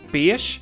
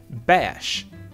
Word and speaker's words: beige: that then we got the color beige which could be pronounced as B ish like I do or it can be pronounced bash by some weights but that I don't I hate that sound of it but there you have it that's the two variants that we have for this word then we have Sheila